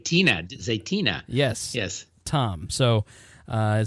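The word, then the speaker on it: Zaytinya: Turkish restaurant Zenia how do you say zatina zatina yes yes Tom so uh so if you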